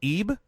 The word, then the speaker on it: Eib: Todd McGreevy and Corey EEB tell me if I'm pronouncing that wrong it's close it's pronounced as if it was spelled IBE I okay Cory I've